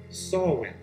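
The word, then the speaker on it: Samhain: with a holiday an ancient celtic holiday it's pronounced sawwin all saints day or all hallows eve is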